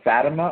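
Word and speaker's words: Fátima: go back to the visions of Fatima or Fatima I've heard it pronounced two different ways the Tom Tom Horn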